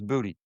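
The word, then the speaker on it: Boutte: Oh, he says Booty. Yes, he confirmed it's Booty.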